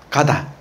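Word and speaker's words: 型: 우리 동양에서는 도란 무엇인가 할 때 도는 형, 폼, 기본 폼, 가다. 예, 가다. 예. 형을 일본어로 가다라고 읽어요. 그러니까 가다, 형을 잡는다.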